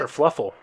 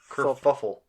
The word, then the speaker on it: kerfuffle: Kerfluffle. Fluffle? I thought it was... Fuffle. Kerfuffle.